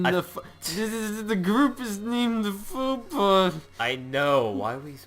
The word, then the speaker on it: faux pas: Oh, we're in the group is named the Faux Pas. I know, why are we... How did you pronounce that? It's a faux pas, okay?